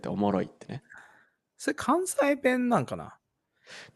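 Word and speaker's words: おもろ: "Omoro" Yeah, that's right "Omoshiroi" is abbreviated like this and it's pronounced "Omoro." Is that Kansai dialect? People in the Kansai region use "omoroi" quite often Like "Omoroiwa"?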